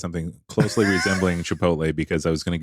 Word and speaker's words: Chipotle: the tea in Chipotle in Chipotle yes no Chipotle this is another Snuffaluffagus yes it is in